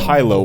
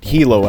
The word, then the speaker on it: Hilo: The first mode is Hilo, and it is pronounced Hilo as in high answers and low answers, not Hilo as in the place in Hawaii.